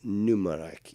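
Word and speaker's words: Mnemonic: check it out Johnny pneumonic Johnny pneumonic it starts with an m m n oh Johnny M but it's it's pronounced numic even though it starts with an m so but it's it's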